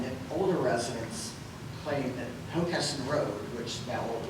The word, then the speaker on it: Hockessin: I think in the same way that you would say Hockessin and not Hockessin, Hockessin used to be pronounced with the accent on the second syllable.